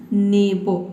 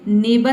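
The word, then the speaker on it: neighbour: When यानी कि नस, नेबो, इसको क्या पढ़ेंगे, नेबर नहीं पढ़ना है आपको पढ़ना है नेबो। क्योंकि देखिए NEIGH ये हो गया आपका ने, और B को हम यहाँ पे केवल पढ़ेंगे बो। UR साइलेंट हो गया क्योंकि R से पहले क्या आया है, E वावल है, दो वावल है।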